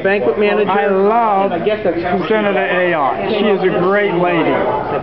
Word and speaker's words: Ayotte: be, or I should say Ayotte if I'm pronouncing it properly. Oh, it is Ayotte. I got it right. That you'd never know. We call her Ayotte up here.